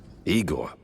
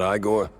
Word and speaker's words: Igor: Igor, not Igore. No, Eigor.